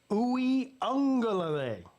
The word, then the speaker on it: Uiagalelei: After Uiagalelei spent 10 years at Clemson, Pigskin should know how to pronounce his name by now. I just did. Uiagalelei.